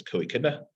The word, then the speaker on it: co-echidna: So this is, so only matroid theorists most likely would pronounce that word as co-echidna. That's how we pronounce it.